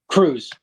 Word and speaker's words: Krusz: pronounce your last name it's Cruz Cruz see that's what I thought and not hard to pronounce but you look at it you see the S and the Z and everything yeah one vowel and you second guess it yeah it's like